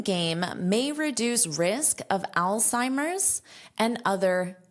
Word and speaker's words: Alzheimer's: So, this is an Al Al Si Mers. And there's an apostrophe S because you can say Alzheimer's disease, but most of the time you don't need to say disease. A lot of the time natives will just drop it. But, you still include the S in pronunciation and the apostrophe as in spelling.